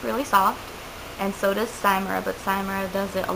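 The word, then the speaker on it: Cymera: uploading it to the computer I use the simura app which is spelled c y m e r a and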